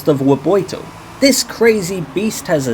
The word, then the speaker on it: Revuelto: 2024 Lamborghini wo and apparently that's how you pronounce it it's not the revolto apparently it's the Vito this crazy Beast has a 6.5 L V12